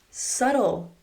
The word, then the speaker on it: subtle: Subtle.